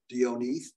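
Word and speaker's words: de Onís: But the Spanish minister in Washington City, Don Luis Dionis, Castilian pronunciation, agreed to cede the peninsula only on condition that the U.S. not assist or recognize the other Latin American independence movements. Onith also haggled about the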